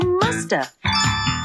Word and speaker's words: must have: And sometimes we don't pronounce the V. And so you hear musta.